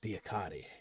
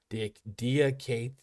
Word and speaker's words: Diakite: See, I was told by the coach Diakate, but Diakite. Diakite? Is that the better one?